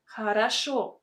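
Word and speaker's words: хорошо: will sound really unnatural we don't speak like this we say harasso in a fast spoken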